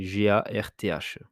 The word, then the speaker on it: Garth: s'écrit pareil, Lamy, et une incidence de Garth. Là, je connais personne qui s'appelle Garth, donc c'est Garth.